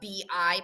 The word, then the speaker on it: bi: okay remember that the bi part is it's pronounced bi i know it looks like the the prefix by but it's pronounced b i because the b is